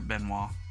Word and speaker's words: Benoit: At least that's how we pronounce it here, Benoit.